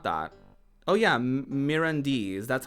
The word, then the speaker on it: Mirandese: Oh yeah, Mirandese. That's how you would say that. Mirandese.